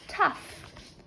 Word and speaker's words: tough: next is the word tough tough three 2 one show me so we have again T the ouu is making an a sound and the GH is making the F sound t f f f